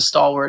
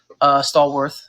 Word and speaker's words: Stallworth: Like the pizza was going to stay the same, and that's what the stalwart is. Stallworth, actually, to pronounce it correctly.